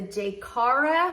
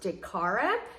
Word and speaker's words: Jkara: I think it's pronounced Jaycara, New York, women's beaded evening gown dress, size 12P.